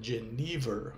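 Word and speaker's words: jenever: rainha Guinevere, nem a bebida holandês, em verdade pronunciada Genaver, como eu descobri só este ano.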